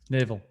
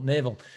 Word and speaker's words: Naval: we'll put naval again i hope i'm pronouncing this with naval navel not neville naval um right an old